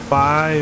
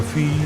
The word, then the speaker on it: Fi: Fi or Fee, depending on your pronunciation.